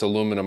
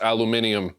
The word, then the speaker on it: aluminium: the pronunciation of it's I don't think it's aluminum I think I think you I think you're right I think it's aluminium which is exactly what